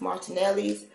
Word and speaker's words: Martinelli's: name on but I take your time it's pronounced Martinelli's and this one is in its sparkling cider